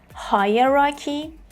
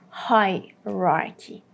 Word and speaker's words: hierarchy: The British pronunciation is hierarchy, hierarchy, and the American pronunciation is hierarchy, hierarchy. So again, you would hear hierarchy, hierarchy, the British version, or hierarchy, hierarchy, the American version.